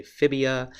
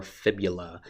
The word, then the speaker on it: fibula: A lot of folks mispronounce fibula because they want it to rhyme and they will say fibia, but it is your tibia and your fibula that compose your lower leg.